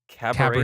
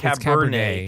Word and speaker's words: Cabernet: It's called like Cabaret Cabernet. Sauvignon. It's Cabernet.